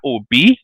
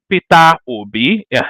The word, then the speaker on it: Obi: it's just the way Peter Obi this is how we pronounce him where I come from you know you are